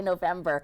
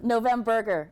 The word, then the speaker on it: Novemburger: it wrong I was going to say November uh no oh my goodness no no burger nov burger oh my goodness and